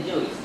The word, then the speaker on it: Guice: Of the framework we can use to inject the dependencies, Google Guice, pronounce it as Guice, and it is an